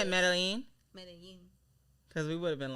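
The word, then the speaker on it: Medellín: Medellin. Because we would have been like medallion.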